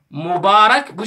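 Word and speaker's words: مبارك: Mübarek, bu şekilde telaffuz güzel arkadaşlar.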